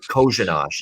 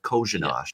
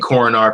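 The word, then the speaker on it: Kořenář: Kozhanash is how you say it.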